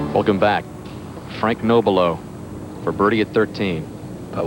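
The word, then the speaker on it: Nobilo: Frank Noelo. This a six iron. Nice shot by Frank. Another solid shot. Well, it is the pronunciation is Noel. For many years, he's been called Nabalo by a lot.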